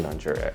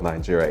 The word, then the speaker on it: Niger: at a map of Nigeria. It's literally right there. And that's why I guess, it's pretty common to see countries being named after rivers. Now, even though it's pronounced a little differently, Niger, one of Nigeria's